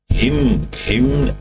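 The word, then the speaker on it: hymn: हिम an silent रहता है दोस्तों इसमें।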